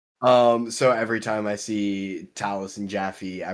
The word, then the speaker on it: Taliesin: Seeing how it's spelled, I always thought it was Taliesin. Oh, yeah, fair. Nope, it's Taliesin.